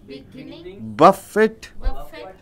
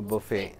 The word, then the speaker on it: buffet: break fist bracelet beginning buff it uh sorry buffet is called a buffet buffet and accident camelin